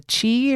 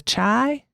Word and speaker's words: The Chi: and is it the Chi or the Chai? I think it's pronounced the Chai, the Shy. It's like Chicago, right?